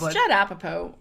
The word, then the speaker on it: Judd Apatow: It's Judd Apatow.